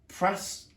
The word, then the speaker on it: Prasutagus: Boudica was married to, and this can be a tricky one to pronounce, Prasutagus, there we go.